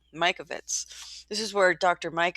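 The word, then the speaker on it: Mikovits: this is where doctor I've been pronouncing her name wrong Mike of it Mike Ovitz right Mike Ovitz this is where dr.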